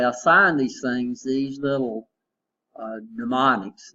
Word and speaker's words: mnemonic: So what they do is they assign these things these little mnemonics. Now mnemonic starts with an M, even though we start with, so the M is silent.